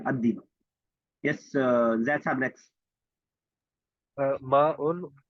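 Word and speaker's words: الديك: अद्दी को, लाम साइलेंट रहेगा, अद्दी।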